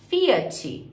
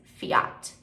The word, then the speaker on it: Fiat: de carro em inglês Fiat a gente chama de Fiat feat então mais uma vez a gente coloca esse hino final ele fala Fiat em inglês Fiat Fiat ele também cai